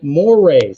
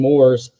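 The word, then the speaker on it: mores: were changing right and mo Ray and that's how you say it it looks like changing Moors but it's changing Moray uh morals basically and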